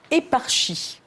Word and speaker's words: éparchie: Et il y avait un huit lettres avec éparchie. Euh, ça c'était difficile d'ailleurs. Est-ce qu'on prononce comme ça ?